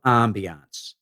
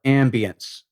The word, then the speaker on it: ambiance: is the magic of ambiance or ambience, if you prefer French or English pronunciation.